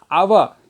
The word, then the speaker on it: hour: Hour. You know, it may be starting with H, it is a consonant, but the pronunciation is hour, hour.